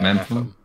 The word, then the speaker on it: Mepham: Yeah, Mepham.